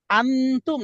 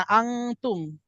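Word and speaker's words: أنتم: তো এখানে উচ্চারণ কোনটা হবে? আনতুম। দ্বিতীয়টা, ঠিক আছে? নাক থেকে উচ্চারণ হবে অনুসার।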